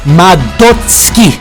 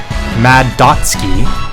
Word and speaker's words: Madotsuki: just take a second here to vent it's pronounced madotsky for some reason so many people struggle to say it properly it's not mad dotsuki it's not mado suki all you know is that this character's name